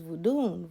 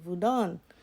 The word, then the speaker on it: vodun: Europeans use for them they use vodun vodon that's how they say it over there so you can